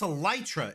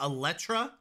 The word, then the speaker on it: Elytra: been saying it wrong it's a lytra isn't it it's not electra electra electricity these are